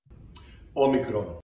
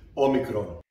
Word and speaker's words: omicron: Some people pronounce it Omicron like I do, whereas some people are pronouncing it Omicron. Now, it doesn't really matter, except I've heard some people pronouncing it Omicron claiming they are right, and the people pronouncing it Omicron are wrong. Well, as you know, Omicron is a Greek letter, so let's ask my